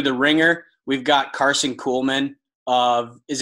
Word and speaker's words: Kuhlman: So episode 2, The Ringer, we've got Karson Kuhlman is it Kuhlman or Kuhlman? Kuhlman? Nope, you got it. Yeah, you nailed it first time.